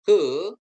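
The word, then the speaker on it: ה: Konsonan Ibrani he ya. He diucapkan seperti H dalam kata hati.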